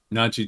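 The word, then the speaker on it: Nadji: Najee Jeter, yeah. Not Najee Jeter. Yeah, there's not an A at the end of that.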